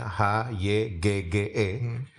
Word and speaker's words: hygge: Ya, tulisannya H-Y-G-G-E. Dibacanya Hygge.